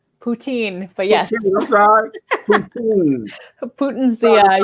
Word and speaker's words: poutine: some of the different types of food like putin did i say it right poutine but yes putin's the eye you know well